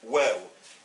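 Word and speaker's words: و: Ça s'appelle waw, et ça se prononce ou.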